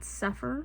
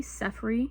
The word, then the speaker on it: Sefri: Her name is not Sepher. Her name is definitely Sefri.